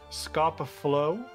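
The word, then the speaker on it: Scapa Flow: It's from Scoppa Flow, rhymes with go.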